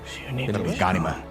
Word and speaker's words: Ghanima: Ghanima.